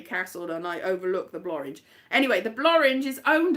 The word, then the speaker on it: Blorenge: It looked like it was an easy walk, and they went up the Blorenge as well, which apparently the Blorenge, which rhymes with orange, is a big mountain that I've got videos of that.